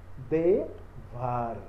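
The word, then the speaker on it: דבר: Quando ele estiver ligando uma consoante a outra, na mesma sílaba, ele é vocálico, ele é pronunciado. Devar. Por quê? Primeiro vem o Dalet, depois ele para vir um Veit. Correto? Então ele está ligando uma consoante a outra. Então ele lê Devar.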